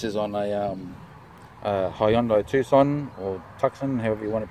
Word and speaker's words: Tucson: on a um hyundai tucson or tuxen however you want to pronounce that i would pronounce that as toxin but in america you hear people say tucson so first of all